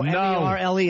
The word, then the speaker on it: Merle: No, M-E-R-L-E is Merle.